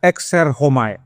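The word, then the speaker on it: exerchomai: Ada yang bilang ekserchomai memang tulisannya begitu tapi bacanya erhomai.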